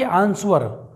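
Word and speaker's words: answer: को लाइक कर दीजिए आंसर ना कि आंसर आंसर इसका मतलब होता है उत्तर देना चलिए दोस्तों इस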